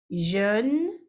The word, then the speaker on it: jeune: E esse jejum aqui, o som dele, gente, é fechadinho, como se ele não existisse. É como se fosse assim, ó. Jun, jun, jun. Como se fosse o J-N.